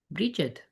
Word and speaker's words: Brigid: Brigid, pronounced. Yeah, I'm saying it right. Bridget, wait a minute. Bridge. Brigid. Oh, wait a minute. Maybe I'm not. Brigid. Oh, I haven't been saying it right the whole time.